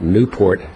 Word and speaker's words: Nieuport: I'm a lawyer, 395 Newport Drive. For the record, that's spelled Nieuport.